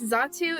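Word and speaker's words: Xatu: in extra um yes zatsu is spelled with an X it's uh x-a-t-u but it's pronounced as if it was a z so uh very very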